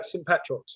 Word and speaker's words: St Petrox: Is it St Petrox? Yeah, St Petrox, yeah.